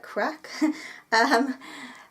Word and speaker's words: craic: about CRA I see I'm glad that I was told that you don't say it that you say it like crack and mrs.